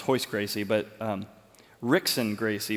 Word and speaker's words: Royce Gracie: not Royce Gracie but his brother which is pronounced horse Gracie but um Rickson Gracie pronounced Hicks and Gracie